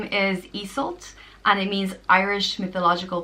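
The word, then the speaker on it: Iesult: And but when you do change those around, it does change the way it's pronounced and the meaning. So Iseult becomes Iseult, and Iseult means ruler of the ice.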